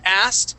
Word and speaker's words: asked: word asked okay now the trick class with the word asked is not to pronounce that K okay uh we say asked okay we skip right over that that K and go straight to the T that's the trick okay